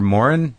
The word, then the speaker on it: Moran: You're Moran? Is that how you say it? That's right, yeah.